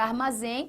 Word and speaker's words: armazém: Bom, porque primeiro a palavra armazém possui a sua tonicidade aqui na última sílaba, ou seja, aqui é simplesmente uma oxítona.